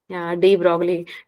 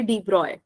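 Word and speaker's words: de Broglie: होगा आपने केमिस्ट्री में डी ब्रोकली को ब्रोकली वाला ब्रोकली हमारा वाला थोड़ी है यली हम इसका बिल्कुल स्पेलिंग बाय स्पेलिंग चले जाते है इसका एक्चुअल में नाम है डी ब्रॉय ठीक है डी ब्रॉय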